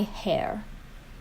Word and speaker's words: hair: you might say my hair so it would not be mine hair because hair starts with a pronounced h it's not a silent h so it's my hair